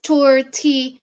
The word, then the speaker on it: tortillas: So how it's said to pronounce in the menu is tortillas. Tortillas. Like the last bit says YAHAS. Yahas. So tortillas.